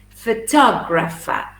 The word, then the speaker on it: photographer: photograph photograph second photographer the problem is that you say and there is a schwa it's photographer photographer photographer that's it photographer remember the schwa always falls on unaccented syllables so fur is unstressed for top grapher yeah except for the top which is accented number three roy look